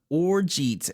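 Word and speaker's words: orgeat: do you spell it oret a cooling drink made from Orange flour water and either barley or almonds uh oh it actually is pronounced or this whole time o r z h at this is like the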